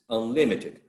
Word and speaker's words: unlimited: false on lib right if we add the prefix on that particular prefix does not attract the stress so since it doesn't attract the stress it's not unlimited it's unlimited so second syllable should be the one bearing the stress now that's the regular